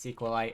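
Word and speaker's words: SQLite: SQ light viewer also people keep telling me it's pronounced sequel I and I believe them however I just don't like saying it that way in case anyone's wondering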